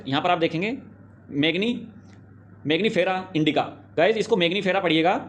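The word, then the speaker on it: Mangifera: तो गाइज़ यहां पर आप देखेंगे मैगनी मैग्नीिफेरा इंडिका।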